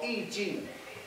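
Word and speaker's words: 易經: Because Confucius tried to explain in one book, a very ancient Chinese book called Yi Jing, okay? Yi. Jing. Okay, Yi, pronounce that. Y-I-J-I-N-G.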